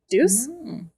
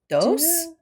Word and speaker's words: Deus ex machina: Do Ex Machina. Deuce? Dose? I don't know. Oh, I don't either. Deus? No, I think it's Deus. Deus Ex Machina is what the thing is called.